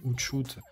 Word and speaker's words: Hootsuite: Alors, Hootshoot, ça s'écrit Hootsuite.